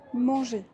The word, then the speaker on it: manger: Parce que er ensemble, ça crée le son e comme manger.